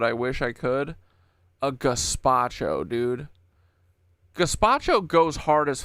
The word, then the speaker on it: gazpacho: A gazpacho, dude.